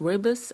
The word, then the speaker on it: rooibos: this tea is pronounced wordless and it means red bush in the africans